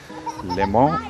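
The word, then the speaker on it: Léman: Limo is pronounced as L E M A N. Um it's called Lak Limo and uh the important part is that uh as I said this is international border.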